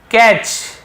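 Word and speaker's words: catch: अब आगे देखिए कैच, यहाँ पर भी देखिए कैच, टी साइलेंट है, कैच नहीं पढ़ेंगे, कैच पढ़ेंगे, टी को हम लिखते जरूर है, पढ़ते नहीं है।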